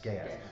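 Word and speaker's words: geas: G we never forget out how that's actually pronounced g e a s gas gas we're going to put a g spell on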